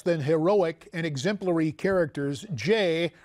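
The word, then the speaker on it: Jeh: And you mentioned in that cavalcade of less than heroic and exemplary characters, Jay rhymes with meh, Johnson, over the Department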